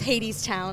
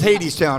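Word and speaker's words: Hadestown: Oh, that's spelled wrong. But it's Hades Town. That's what I thought. It's misspelled, but it is Hades Town, right?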